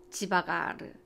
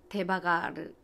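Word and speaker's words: devagar: 잘 먹는다가, 이렇다면 브라질은 지바가르, 데바가르, 그게 무슨 말이냐고요? 지바가르, 데바가르 같은 말이에요. 그냥 이 읽을 때에 따라서 그 발음법인데 슬로울리예요. 천천히 문화예요.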